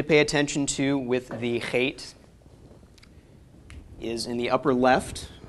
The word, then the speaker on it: Het: okay that's the Zion eight-letter is hate as I mentioned last week this is fate and not Chet the spelling is unfortunate we don't have English letters that represent the sound the hate makes it is a cup